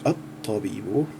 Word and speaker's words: الطبيب: First of all, this first noun, meaning the doctor, it has the shadda, so it's at-tabibu.